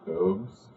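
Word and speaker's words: Bubs: I do two shows in Winona at Big Boobs and uh I was going to say it's B u BS but they pronounce it boobs.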